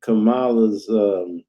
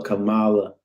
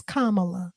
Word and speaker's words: Kamala: I call her Kamala. Because you want to blacken it up. That's how we do. That's how Black people pronounce it. But the correct pronunciation is Kamala, like the punctuation, a comma and la, Kamala.